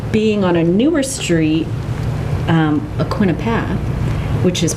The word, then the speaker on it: Aquinnah: there but also being on a newer Street aquinnah path which is pronounced that way by the way a man